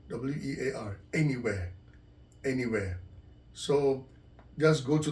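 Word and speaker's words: Anywear: r dot Co dot UK anywhere so it's pronounced a-n-y where w-e-a-r anywhere anywhere so just go to the website and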